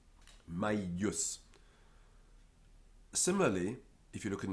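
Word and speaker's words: maius: over it is misleading because it's the way the dictionary is telling us that the following consonant is a double consonant and so it's my use and the letter i is actually a yep it's continental and it's doubled my use similarly if you look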